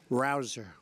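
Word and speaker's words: Rouzer: nice David Rosa hey you know how you pronounce it rabble rouser you go David rouser where's David is he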